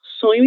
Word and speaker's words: sonho: Assim que nós devemos pronunciar esse som, OK? Ele é muito parecido, na verdade é igual, nós falamos que é igual ao som da letra N do espanhol, OK?